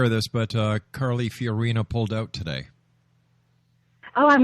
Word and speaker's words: Fiorina: in watching is Carley Fiona or how you pronounce her last name fiorina um yeah thank you fiorina um and the only reason I'm interested in